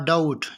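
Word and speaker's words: doubt: उसके बाद डाउट, यहाँ पर बी साइलेंट है।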